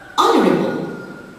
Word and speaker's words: honorable: Honorable. So the silent letter here is the mute H in the initial position.